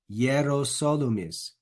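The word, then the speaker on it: Hierosolymis: Ab, and then we've got this killer here, Yerosolumis.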